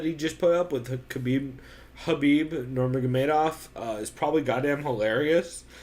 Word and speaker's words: Khabib: just put up with Habib Nurmagomedov is probably goddamn hilarious because Khabib's is it Khabib or Habib? It's Habib. I always say it with a K because so does everyone else.